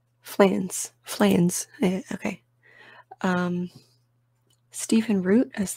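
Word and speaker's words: Fleance: Am I pronouncing that right? What are the phonetics? Flans.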